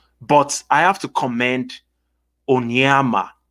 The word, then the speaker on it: Onyema: So the pronunciation of the name is Onyema Ogbuagu.